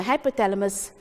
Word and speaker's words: hypothalamus: You must say it like how you're going to spell it. Hypo, how do we all spell hypo? H-Y-P-O. T-H-A. La, L-A. And mus, M-U-S.